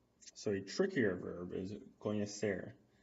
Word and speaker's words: conhecer: So a trickier verb is conhecer. Now the NH sound, we learned this in the pronunciation lesson a long time ago. Conhecer, yeah. It's very similar to the N with the tilde in Spanish, right?